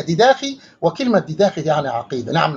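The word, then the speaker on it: διδαχή: الكلمة تنطق باللغة اليونانية ديداخي، وكلمة ديداخي يعني عقيدة.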